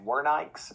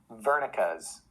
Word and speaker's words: Wernicke: the body surface okay so i always try to say it correctly in german so if anybody out there is german please pardon my terrible attempt at german we usually call it wernicke's area uh i've heard